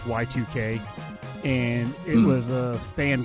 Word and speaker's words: Y2K: a game called yik i like to call it yik but it's pronounced y2k and it was a